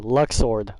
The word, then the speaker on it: Luxord: who are you god they really can't pronounce his name luxord luxor is as simple as that i want to